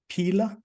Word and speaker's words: Pela: In 2008, you founded and scaled Canada's toy shop, Tech for Kids, and later co-founded Pela. Is that how you pronounce it, Pela? Yeah, you can call it Pela for sure.